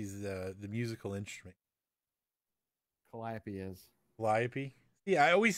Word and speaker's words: Calliope: A Callipy is the musical instrument. Calliope is.